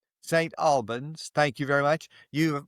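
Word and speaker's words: St. Albans: Albins's and your business St. Albins. Thank you very much. You've more than once you've corrected my pronunciation, so it's appropriate that you do that today.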